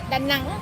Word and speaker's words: Đà Nẵng: Đà Nẵng.